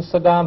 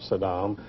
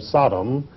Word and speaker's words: Saddam: he was on camera he always dis pronoun mispronounced his name he always called him Sodom uh as though he were trying to call him a sodomite I don't know but